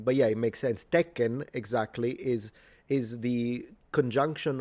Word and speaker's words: Tekken: And if I'm speaking English, you you would say, "Yeah, let's play some Tekken." But the N is not pronounced in I mean, it is pronounced in Japanese, but it's nasalized.